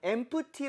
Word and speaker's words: empty: 텅빈 이라는 형용사 되겠습니다 대신에 지금 형 씨가 엠프티 라고 하지 않고 어떻게 했죠 tmd 그쵸 가운데 피가 묵음 이 돼요 그게 왜 그러냐면 보통은